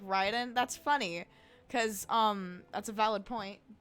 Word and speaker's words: Raiden: the ride on Shogun so it's it's Ryden Shogun and then and then in uh Mortal Kombat it's Raiden that's my fault that's also